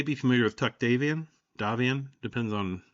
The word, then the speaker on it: Davion: Davian I guess it depends on what part of the FedSuns you live in, how you pronounce it. It's like the redneck version is probably Davian. Uh, and then like near New Avalon, it's Davion. Um, anyway, he is planning